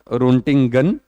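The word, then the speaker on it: Röntgen: आगे चलते हैं, ये एक साइंटिस्ट का नाम है, इनको बोला जाता है रोंटिंगन। ये भी अजीब सा नाम है, ये साइंटिस्ट थे, इनका नाम था रोंटिंगन, और ये उन्हीं के नाम पे रोंटिंगियम, पीछे इयम लगता है।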